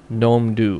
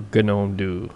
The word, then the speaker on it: Gnome Do: a cool little feature called gnome do or gome do however you want to pronounce it I guess that battle can go on forever um gome do what